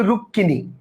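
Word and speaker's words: রুক্মিণী: হয় যেমন রুক্মিনি মানে যদিও এখানে আমরা ম যুক্ত করছি ক এর সাথে ম কিন্তু হিন্দিতে এটা রুক্মিনি উচ্চারণ হলেও বাংলায় কিন্তু আমরা বলি রুক্কিনি অর্থাৎ উচ্চারণ কিন্তু রুক্কি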